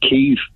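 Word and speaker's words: Kyiv: screen and calls it cave they're taking their lead from fox news no they're not they're taking their lead from how the ukrainians pronounce their own capital city the ukrainians have called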